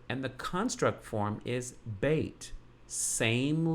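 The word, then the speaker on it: בית: It's a part of the vowel, the E-Y or E-I of bait, which is why I pronounce it bait and not bet.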